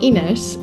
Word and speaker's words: Ines: our life but anyway um ines because I mispronounced your name at the beginning in I said but it's inesh in Portuguese uh thank you so much